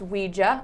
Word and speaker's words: Ouija: a is the german word ja and it's pronounced ouija um so that is where the name came